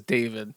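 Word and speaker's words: D4vd: I believe you pronounced his name David, but it's spelled weird. Yeah, his name is David.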